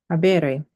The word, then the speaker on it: habere: So we have an I before the RE.